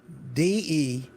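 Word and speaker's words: de Buyer: I use is named, it's a Dubayer, spelled like D Buyer, Debeyer.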